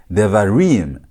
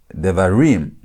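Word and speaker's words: דברים: When you're pronouncing, you say devarim, devarim. That's why you put the emphasis in pronunciation.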